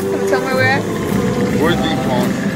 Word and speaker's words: Worthley: Worthley pond. Worthy?